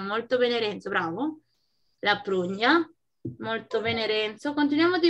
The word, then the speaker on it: prugna: No, la prugna è il. Ay, non lo conosco. Bueno, Milenka pronuncia.